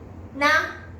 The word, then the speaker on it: な: N と緒にするとなと言います。